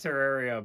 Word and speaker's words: Terraria: And I know it's officially pronounced Terraria, but I prefer to call it Terraria.